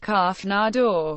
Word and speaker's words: Canada: Some reports from the 1840s suggest that in that era, the word Canada was commonly pronounced kanadɑ rather than its more contemporary pronunciation.